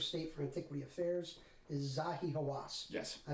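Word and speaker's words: Zahi Hawass: the minister of state for antiquity affairs is zahi hawas yes i mispronounced it a little bit before and um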